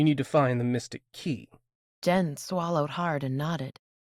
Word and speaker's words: cay: Pronounced key, not K, I said.